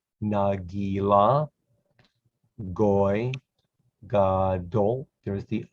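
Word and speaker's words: גוי: This is pronounced goy because of the yud. Yud next to an O makes an oi sound, like oi, oivai, goy.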